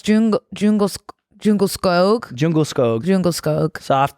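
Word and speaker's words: Djungelskog: Swedish it's okay okay I learned how to pronounce yeah oh yeah it's yeah but the U is jungle snog it's Jung jungle jungle skog jungle skog jungle skog soft toy comma I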